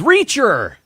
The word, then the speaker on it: Reacher: teacher uh at school teacher rhymes with reacher and uh this is